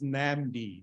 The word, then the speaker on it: NAMD: an MD for okay it's pronounced as namdi not another name suggestion okay